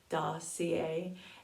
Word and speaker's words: Dossier: is dossier this is how you say it dossier and if you want to go to their